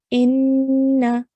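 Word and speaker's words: إنّ: Over here we have an alif with a kasra followed by a noon mushaddad. So we're going to join the alif to the noon and then we have to pronounce the fatha on top of the noon as well. So we're going to pronounce this as inna.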